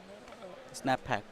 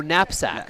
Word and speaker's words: knapsack: Snapback problem. Snapback? Yeah. Okay. And what is Snapback? I mean, it's kind of algorithm similar like backtracking, right? Yeah. Oh, knapsack. Knapsack. Okay, yeah. Oh, we pronounced wrong.